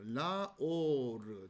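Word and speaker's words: לאור: 왜 이렇게 발음을 하느냐? 자, 바로 원래는 라메드 정관사 오르 이런 형태였는데 자, 정관사를 생략시키고 그리고 이 라메드의 발음을 라로 발음을 하는 거죠.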